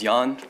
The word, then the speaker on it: Jan: Did I say that right? No, sadly, it happens all the time. Proper pronunciation is Jan.